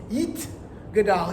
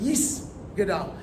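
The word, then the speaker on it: יתגדל: They're going to do that T sound as an S sound. But when we do it, it's Yit Gadal instead of Yis Gadal.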